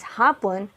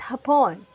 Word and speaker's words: hapon: morning tanghali means noon this is pronounced as hapon not hapon hapon means afternoon however if you pronounce it as hapon you are pertaining to the japanese people next we have gabi